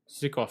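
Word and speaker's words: Zykov: that's the name kasmir kasamir sikkov sikkov that's how you say his name shows the perfect time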